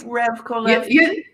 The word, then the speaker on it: Revkolevsky: Revkolevsky?